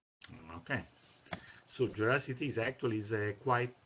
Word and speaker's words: Geraci: you pronounce it uh it is Italian we pronounce it but that's mostly just because we're lazy Americans and we're not going to get people to pronounce it correctly okay so jity is actually a quite